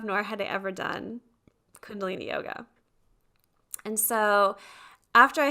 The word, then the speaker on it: kundalini: yoga a lot what is kundalini did i pronounce it right yep okay kundalini yoga yeah so i did yoga for years